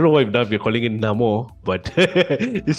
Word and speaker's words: Namor: what we're calling it Namo but this sounds very weird because like we're always calling it Neymar Nemo and yeah but that that's how they pronounce so it's no more that's what he said so it's number and